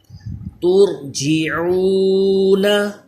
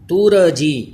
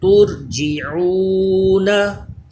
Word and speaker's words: ترجعون: نہیں پڑھنا بلکہ صبرنا۔ ترجعون، را ساکن سے پہلے پیش ہے اس لیے را پور پڑھا جائے گا۔ ترجعون، ترجی ایسے نہیں کرنا، را میں کلکلا بھی نہ ہو۔ ترجعون۔ نیکسٹ پڑھیں یرزقون، را